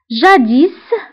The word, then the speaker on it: jadis: Jadis. Jadis فهنا اسم آخر الكلمة ننطقها نقول jadis كتعني سابقا.